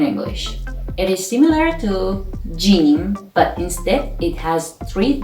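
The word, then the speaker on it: ج: make is means recur the sixth letter is jin which is sounds g like jeep in english and its initial or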